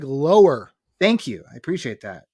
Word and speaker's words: Lauer: That's Lauer is. Spelled like lower.